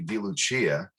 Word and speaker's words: DeLucia: You know, if we were in Italy right now, it'd be DeLucia. And I was going to pronounce it that way, but I did my research. And I did pronounce it the correct way for America, I guess.